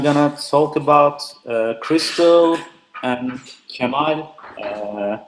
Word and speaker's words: Kemal: talk about crystal and c'mon it's really a pronounced or you know foreigners but it's pronounced like Gemma I don't know why but Spanish people pronounce it perfectly but the others are